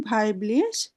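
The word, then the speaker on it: weiblich: নাকি পুরুষ অথবা আদারস থাকলে তাহলে ভাইব্লিশ এটার উচ্চারণ ভাইব্লিশ বা মেনলিশ এরপরের শব্দটা হলো গেবুস্ট ডাটুম গেবুস্ট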